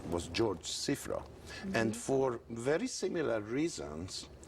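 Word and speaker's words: Cziffra: Cifra. Cifra. Czifra.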